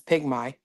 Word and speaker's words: pygmy: Why though did I automatically say me instead of my when that's clearly my at the end? It is pygmy.